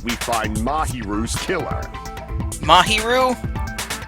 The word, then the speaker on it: Mahiru: Mahiru? God damn, I was saying that name wrong. Mahiru. Even though it's an easy one to say, I've fucking murdered the crap out of it.